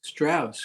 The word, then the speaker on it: Straus: And did I get your last name pronounced correctly? Straus, correct. Straus.